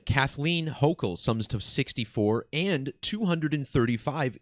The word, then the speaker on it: Hochul: Kathy Hochul, I believe is how it's pronounced.